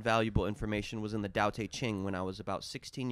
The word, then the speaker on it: Tao Te Ching: In Chinese, it's pronounced Tao Te Ching. Tao Te Ching.